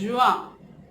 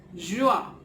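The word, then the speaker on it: jaune: Then we have yellow, the favorite color yellow, which is juin. Yellow, juin, yellow, juin, right?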